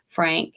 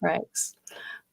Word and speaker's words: Frakes: That's how you say his name. I always say Frank. I don't know why I do that, Franks. But I meant Frakes.